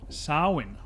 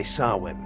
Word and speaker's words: Samhain: Samhain. Yeah. Irish or ancient Irish words are sometimes pronounced totally different from what you actually think it is.